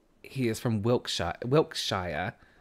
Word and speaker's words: Wiltshire: My brother says he is from Wiltshire. Oh, like how Americans would pronounce it, like Shire at the end.